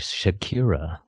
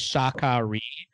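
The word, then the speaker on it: Sha Ka Ree: The place is called Shikari, but I originally read that as Shakira. So I thought that's where they were going to find God. Pronounce it in the movie is Shakari because it's supposed to sound like Sean Connery, which is who they wanted for this part.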